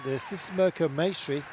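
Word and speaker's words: Mirco Maestri: This is Merco Masonry. Rhymes with pastry.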